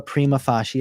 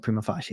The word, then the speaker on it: prima facie: it used to be they would give you a premafashi approval notice or primofashi determination you may call it something else i call it prima facie it's latin i'm saying it right um so just